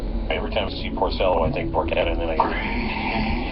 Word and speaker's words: Porcello: That's the one thing, and I'm not calling Dean Montello but when you mispronounce a pitcher's name wrong, it's Rick Porcello.